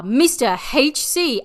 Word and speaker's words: Mr. HC: Their members are Mr. HC, and Wiki informs me that it is pronounced Mr. Hardcore.